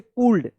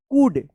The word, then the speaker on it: could: अब देखिए यहाँ पे काफ पढ़ेंगे, कैफ, COULD, तो क्या पढ़ेंगे इसको, कूल्ड। आप पढ़ते होंगे कूल्ड, लेकिन इस तरह से नहीं होगा, इसका सही उच्चारण होगा कूड, कूल्ड नहीं, कूड, कूड। यहाँ पे भी क्या है, एल साइलेंट है।